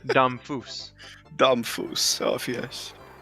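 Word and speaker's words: Damphousse: Oh yes, good job, Von Deuce. What's his name? Domfus. Domfus. Oh yes. I said Von Deuce. That's not how you say his name at all.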